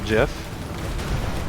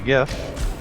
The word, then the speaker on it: GIF: I'm talking about so even though the actual correct way because that's what the creator said it's supposed to feel jiff because the people have spoken and commonly say gift that's what it's called so think you did